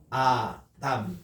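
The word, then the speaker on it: אדם: 아 할 때 요거는 알레프가 있다라는 표시만 하지 소리는 없습니다. 근데 여기 이제 모음이 있어가지고 아라고 읽거든요. 그리고 이제 여기 달레스니까 D라고 읽고 그 다음에 이렇게 아 이렇게 해서 아담 이렇게 됩니다.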